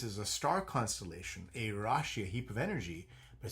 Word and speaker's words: rashi: So, first of all, in Sanskrit, the word sign, the word is rashi, r a s h i. And rashi translates to rashi. Rashi is how it's pronounced.